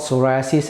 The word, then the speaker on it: psoriasis: That skin disease is called psoriasis and it's spelled P-S-O-R-I-A-S-I-S.